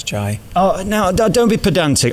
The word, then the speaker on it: Jai: Now you with Jai and Jay and all of that. I mean, J-A-I, how do you say it? Jai. Jai. It's an I. You say Jai and I say Jay.